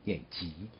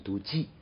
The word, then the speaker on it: 即: 经常有人读即啊，若即若离，实际念急啊。这个字的规范读音应该念急啊。